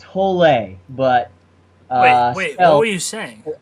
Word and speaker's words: Hole: I was called I was saying it Harry Hole the whole time three three-and-a-half books later I found out it's pronounced tolay but wait oh you shame oh you're saying